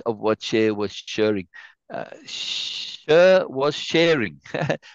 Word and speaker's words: Cher: Cher was sharing. I call her Cher, but she says share, like share.